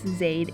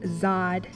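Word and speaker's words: Zade: beings would even have Pete asks Zaid if he's pronounced her name correctly and she's like yeah it's like aid but what does e she internalizes how much she appreciates it when people say her name writes and hates it when people say it like Zod I don't care how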